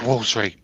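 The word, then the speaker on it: Woolsery: The actual village name is Wolfardisworthy. All one word. Wolfardisworthy. But the locals got so fed up with all the holiday makers not being able to pronounce it, it's just called Wolseley.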